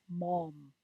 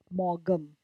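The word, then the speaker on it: Maugham: and will know that it is pronounced as mom not morgam g is silent William Somerset Mall an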